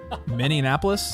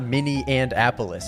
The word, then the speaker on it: Minneapolis: it one more time miniapolis it's not mini and appolis it's not Min Anapolis it's just miniapolis m oh Min Minneapolis